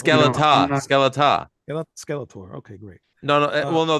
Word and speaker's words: Skeletá: I can't pronounce anything. It's Skeletá. Skeletá.